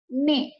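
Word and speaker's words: nez: Kemudian ada ne, ya. Ini dibacanya ne karena Z-nya tidak kita baca.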